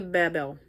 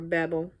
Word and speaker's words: Babel: Another episode, Journey to Babel, or Babel, or Babel, however you want to pronounce it, because it's been pronounced two different ways depending on the series.